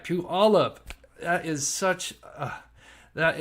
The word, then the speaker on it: Puyallup: Powell in um Peewee all up uh puola Puyallup there we go I said it right Pew all up that is such uh that is one word I could not pronounce uh Pew all up Washington I got it right um Josh parents